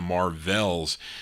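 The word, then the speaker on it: Marvells: on the win label as the Marvels v-e-l-l-s this one he's kind of pronounced it like the Marvels it's the Marvels and then they also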